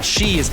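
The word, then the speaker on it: sidhe: Now she is interesting. It's spelled s i d h e, but it's pronounced shei.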